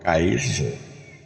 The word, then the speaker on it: Caesar: Aqui em latim, escreve, né, o Caesar, né, como é o César, né? Mas a pronúncia lá é Caesar.